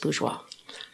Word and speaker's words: Bourgeois: oh I s and it's pronounced bourgeois now that's wonderful that's a French name yes very nice and